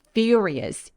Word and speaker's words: furious: 주시고요 너무나 중요한 키워드이기도 입술 쭉 내밀어서 혀끝이 천장에 안 닿게 리가 아니라 furious 이렇게 발음 참고해 주세요 발음이 궁금하신 분들은